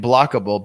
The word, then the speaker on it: Blokable: Entekra, Entekra, Blue Homes, BLU, and Blockable, BLOKABLE.